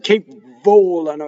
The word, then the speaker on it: volano: Otherwise, because it double V doesn't stop the way other consonants do, and non-mother, I'm saying it in Italian, madrelingua, non-native Italian speakers have a hard time going, che volano, and it's too much. Che volano, double V, right? Volano. Going on.